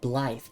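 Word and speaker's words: Blaidd: Pronounced Blythe.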